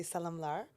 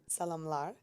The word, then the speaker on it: salamlar: Salamlar. Salamlar. It's like salam. Yeah? It's the international word, I guess, for many countries, but I add lar, and I think it's